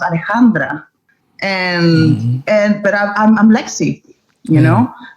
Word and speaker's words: Alexandra: same with my name my name is pronounced Alejandra and I'm Lexi you